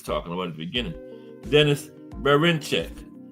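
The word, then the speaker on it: Denys Berinchyk: Denis Berinchek. Yes, that's how you pronounce it.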